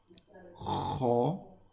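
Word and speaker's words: خ: So this one is kho. Okay, so you notice how my mouth turns into a circle.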